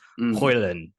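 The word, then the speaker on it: Højlund: And then so Hoyland came in, but he says the D is basically silent. You swallow the D. So it's Hoyland.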